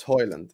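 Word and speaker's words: Højlund: Hoyland for you now. It's Hoyland. That's it. You're gonna have to deal with Hoylund. He's told everyone how to say his name.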